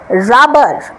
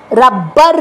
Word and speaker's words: rubber: Correct pronunciation হচ্ছে রাবার, রাবার, রাবার না, রাব্বার না। এখানে বিবি আছে বলে কিন্তু আমি জোর দেব না, জোর দেব না, রাব্বার না, রাবার, রাবার।